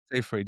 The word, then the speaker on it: Seyfried: I feel like I would pick Amanda Seyfried. Is that how you pronounce her last name? Seyfried, yeah.